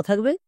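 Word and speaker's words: thing: Next T এইচ আই এনজি। এটা হবে থিংক। টি এইচ এর জন্য থো। আই এনজি এর জন্য কি বই? এক্ষুনি বললাম ইং। তাহলে থ প্লাস ইং থিং এবার একসঙ্গে উচ্চারণ করো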